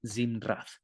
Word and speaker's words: zimrat: La palabra que aquí se traduce como canción, como canción es una palabra que se dice en hebreo, se dice zimnat. Es un poco rara de pronunciar, pero se dice zimrat.